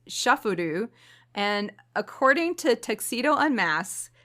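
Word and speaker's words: シャッフル: The Japanese pronunciation of shuffle is shufuru.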